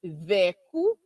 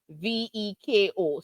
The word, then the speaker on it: Vecco: Our program today is focused on Vecco or Vecco Mass, Vecco Mass, Vecco, or Vecco, Veko. So there's many different pronunciations to the one type of traditional mass, and we'll talk a little bit more about that throughout the program.